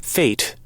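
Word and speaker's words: fête: Fate. Fate. A fate. Fate. It's more of an A instead of an E.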